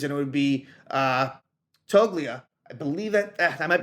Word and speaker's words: Toglia: it would be uh toglia I believe that I might be pronouncing that wrong uh the G might be silent either way it's his